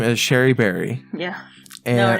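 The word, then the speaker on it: Cherie Berry: Her name is Sherry Berry. Yeah. And no, her name is Cherry Berry. Yeah, but it's actually pronounced Sherry, but no.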